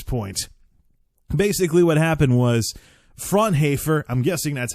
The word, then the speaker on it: Fraunhofer: Basically what happened was Fraunhofer, I'm guessing that's how it's pronounced because it's a German company, and there's